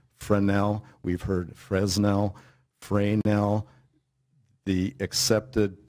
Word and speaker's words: Fresnel: it's pronounced, it's spelled F-R-E-S-N-E-L. It's pronounced Fresnel. We've heard Fresnel, Fresnel. The accepted pronunciation, French pronunciation, is Fresnel. Forget about the S, but you and everybody else have.